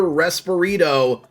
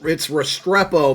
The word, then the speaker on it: Restrepo: But one other upgrade that we're working on here is this Xavier Resperito. And I totally butchered that name. Restrepo.